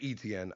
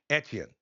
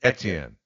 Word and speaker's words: Etienne: Okay, so he tried to make it easy for people who aren't familiar with French pronunciations, and he just said, "Look, just say Etienne, because I can't really teach it." But in French, it's Etienne. It's Etienne.